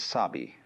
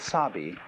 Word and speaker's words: sabi: The first is sabi, and that goes along with something that rhymes with it, wabi.